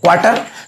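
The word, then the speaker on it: quarter: हम क्या बोले हैं क्वार्टर, इसलिए यहाँ कहा क्वार्टर है, क्वार्टर। आपको क्वार्टर देखिए, क्वार लिखा है, क्वार्टर लिखा है, लेकिन आर का उच्चारण नहीं होगा।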